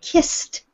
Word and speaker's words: kissed: You'll notice that you hear the ed ending as the sound T. Everybody try it. Kissed. Kissed. Kissed. Next. Kissed. Exactly. So when you have a voiceless consonant at the end of a past tense verb, the sound will be T on the end.